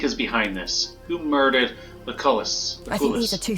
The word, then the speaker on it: Lucullus: I mispronounced it all, so... Lucullus! Lucullus.